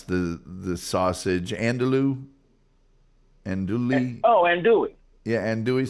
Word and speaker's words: andouille: How do you pronounce the sausage? Andouille?